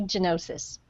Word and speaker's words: Gianotsos: my name is janosis genosis okay I should have guessed that there was the Italian pronunciation there and from